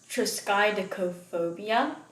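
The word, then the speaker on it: triskaidekaphobia: there's actually a phobia for this superstition it's pronounced triskai decophobia it's very long word um and it's the fear of the number 13.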